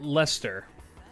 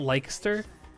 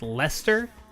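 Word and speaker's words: Leicester: Pronounced leester. The British. It's not Lyster or Lster. It's Lester. That has to have been originally a Welsh name or something.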